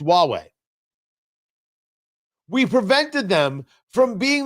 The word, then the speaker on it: Huawei: from Huawei, which is spelled H U A Wii, pronounced Huawei.